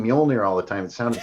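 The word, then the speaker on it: Mjölnir: the hammer of rooms the J is silent started exactly yeah it's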